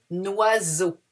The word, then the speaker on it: oiseau: Un oiseau. Alors, E-A-U in French is O. Oiseau.